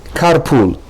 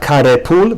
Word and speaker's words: carpool: Carpool. Not carepul, but carpool. Car.